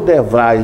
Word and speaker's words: DeVry: Antônio Ladeia, a primeira pergunta, porque o meu inglês é do Ceará, é Devry ou Devrai? Devrai. É assim que se pronuncia? É, Devrai.